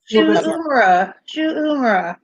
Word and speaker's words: Shu Uemura: I don't have I wrote how it's pronounced above, James. Uemura. James. Shu'umura.